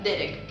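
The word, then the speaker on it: דֶּרֶךְ: Sus caminos significa derek, acento en la E.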